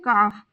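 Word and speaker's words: calf: English में कहते हैं काफ यहां पर एल साइलेंट रहेगा और सी ए एफ का ही हम प्रोनंसिएशन करेंगे तो इसका प्रोनंसिएशन होगा काफ ना होकर काफ काफ हथेली पाम यहां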